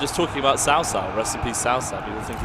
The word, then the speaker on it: Cao Cao: Yeah, it's pronounced Cao Cao. Cao Cao. Like it's like a TS.